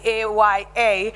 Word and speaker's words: AYA: I call it, pronounce it as AYA.